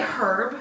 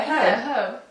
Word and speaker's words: herb: Do you say herb? Yeah, herb. Why the fuck would you miss? Herb. Oh, I hate how you fucking say that. Herb. Why didn't you pronounce the H? The H is not silent.